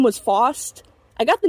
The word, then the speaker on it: Faust: the name was, and people's first thought is that her name was Frost, and so I would usually have to correct it. The name is technically pronounced Faust, but they would then